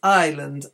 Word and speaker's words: Island: airplane that's the aisle in all three of these words Island Isle and Isle the S is not pronounced so that's something very